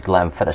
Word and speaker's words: Glenfiddich: I like how you pronounce that, Glenfiddich. Yeah, it's Glenfiddich, some Scotch whiskey.